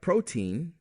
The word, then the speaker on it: protein: Another group of exceptions are scientific words with EIN in them, like protein, caffeine, or codeine. It's spelled EI but sounds like a long E.